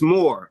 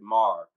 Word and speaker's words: Maur: your first name pronounced well it's more my my father is Southern so he came pronounces it Mar but my name is my full name is Maurice so just depends on how you pronounce Maurice and how what do you want to go about I'll go with you just more more okay good to go